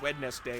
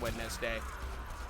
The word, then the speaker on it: Wednesday: we all pronounced it wedes day and then eventually NES became their nickname I think it was them specifically that said they wanted it pronounced wedness day I'm trying to remember